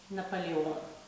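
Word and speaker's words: Наполеон: English called Napoleon Napoleon in Russian we say Nepali Nepali wound sounds very French right and the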